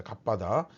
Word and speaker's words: 갑바다: 나가서 돌을 간 뜰 이제 성경에는 가바다라고 되어 있는데 이제 헬라어로 정확하게 발음을 갑바답니다 갑바다 이제 갑바다라고 하는 곳에